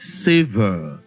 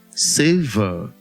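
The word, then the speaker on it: savour: This particular word is correctly pronounced savor, savor, not savor. Now, with this pronunciation, you will see that the letter A that is underlined realizes the A diphthong, not the R sound.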